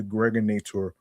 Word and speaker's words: Gregorator: This is your man and homie aka the Gregorator rhymes with now or later.